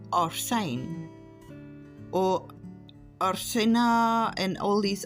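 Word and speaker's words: ἄρσην: It is pronounced Arsene or Arsena and all these other different ways.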